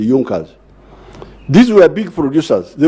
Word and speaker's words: Junker: group in prussia called yunkas they are written as junkers but they are pronounced as the yonkers these were big producers